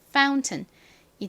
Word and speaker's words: fountain: 발음은요, F는 세게 th 소리가 나고요. OU는 요 mountain에서처럼 아우 소리가 납니다. 그리고 N은 니은 소리가 나죠. 그래서 읽어보면 fountain이 됩니다. fountain.